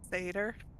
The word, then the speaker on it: satyr: Satyr.